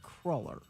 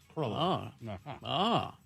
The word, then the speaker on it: cruller: It is from the Dutch word krull, meaning twisted cake, and they pronounce it kruller. Cruller.